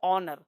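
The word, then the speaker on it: honour: बड़ा महत्वपूर्ण शब्द है ऑनर। ऑनर कहते हैं सम्मान को, ऑनर। अब देखो एच यहाँ पे साइलेंट है, ऑनर सम्मान, किसी हैंडशेक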